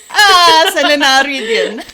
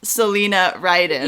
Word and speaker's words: Celina Ryden: sitting here with Selena wait no Selena Selena Selena Rhydian okay so Selena taught me how to pronounce her name horribly horribly that's why in the states she goes by Selena writing yeah or sometimes to Linus oh yeah no